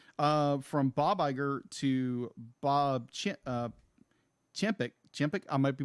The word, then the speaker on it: Chapek: From Bob Iger to Bob Chapek. Chapek, I might be mispronouncing his name.